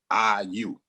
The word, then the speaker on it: I.U.: So I'll simplify to say, no, I dot, you dot, IU.